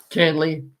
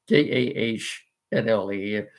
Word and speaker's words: Kahnle: Yankee bullpen last year, Tommy Kahnle, Kahnle. I believe that's how he pronounces it.